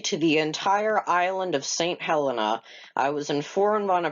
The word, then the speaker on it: Saint Helena: the entire island of St. Helena. I was informed on a previous comment that I was pronouncing their name wrong, and it's not St. Helena, it's St. Helena.